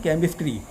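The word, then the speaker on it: chemistry: में 2 शब्द हैं, एक आप लिखते हैं केमिस्ट्री, CH से शुरू होता है, और दूसरा शब्द है चोपड़ा, सेम CH से शुरू होता है। अब कहीं पर आप केमिस्ट्री कहते हैं, कहीं पर उसको चोपड़ा कहते हैं।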